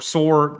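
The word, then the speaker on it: صور: Daily strikes on Tyre or Soor if you're Arabic, that's how you say it.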